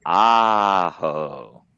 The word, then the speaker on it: Aho: It is Sebastian Aho.